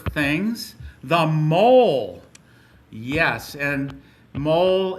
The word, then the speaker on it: mole: Yes, and mole is just like it sounds, like the little animal or the spot on your chin that you got to shave around, or it's not pronounced like mole, so it's not a food, and it has an abbreviation.